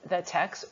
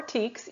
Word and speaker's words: TEKS: So we're gonna spend a little bit of time right now talking about the TECs or TEKS, either pronunciation is correct.